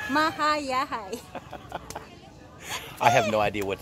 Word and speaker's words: Mahayahay: Yeah, it's hard to pronounce. It's like Hayahay, short for Hayahay, so Mahayahay.